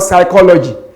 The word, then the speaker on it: psychology: If I ask you to spell the word psychology, many of you will have to meet the letter P. Why? Because it is not articulated. It is a silent letter.